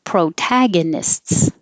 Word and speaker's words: protagonists: a point to say pro protagonists and the ists is a weird combination it's like lists supervisor and the vi